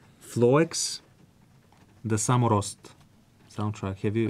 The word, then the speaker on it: Floex: One soundtrack that I absolutely love is the how to pronounce the name. It's Floex.